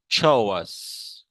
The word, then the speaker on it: chores: This is called chores. ये chorus नहीं chores. ये pronunciation लिखी हुई chores.